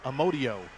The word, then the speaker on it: Amodio: Keep calling him Amadeo. It's Amodio. Mike Amodio, number 16.